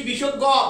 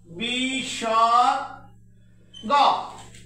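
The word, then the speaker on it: বিসর্গ: তারপরে এটাকে আমরা পড়েছি বিষজ্ঞ।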